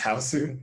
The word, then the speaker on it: Hausu: but um house the japanese one so like pronounced hausu is like if you're if you're like not